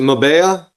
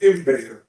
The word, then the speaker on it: Imbea: Is it Mabea? Sir, did I say it right? Almost Imbea. Imbea.